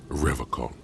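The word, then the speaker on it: Revachol: forever call he pronounces rivercon with a hard K unlike other people I like to pronounce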